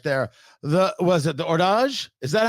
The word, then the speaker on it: Hors d'Age: The was it the ordage? Is that how we decided how it's pronounced?